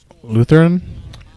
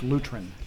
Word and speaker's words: Lutheran: bell Caleb countries on Lutheran incorrect Anglican the Church of England that's pronounced luterin new transition for a